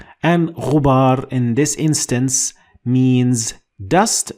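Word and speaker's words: غبار: Last, ghubar. Ghubar. And ghubar in this instance means dust, and it is pronounced in English as you can see.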